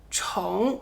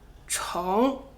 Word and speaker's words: 重: 接下来这个字“重” Next up is the character “zhòng” . 它是个多音字 It’s a polyphonic character, pronounced as zhòng or chóng.